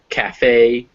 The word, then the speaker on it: cafe: So recipe, cafe, or Persephone, the Greek goddess of spring, those words all have you pronounce the E.